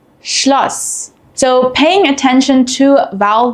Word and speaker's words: Schloss: While both are pronounced the same unvoiced S, they affect the vowel before them. A double S shortens the vowel and an SZ lengthens the vowel.